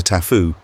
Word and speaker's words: taboo: the existence of the taboo they pronounce it the tafu for one woman fed